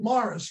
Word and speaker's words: Maurice: It's spelled M-A-U-R-I-C-E, but they pronounce it Morris River.